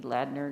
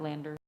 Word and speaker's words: Ladner: Should be Ladner, not Lander.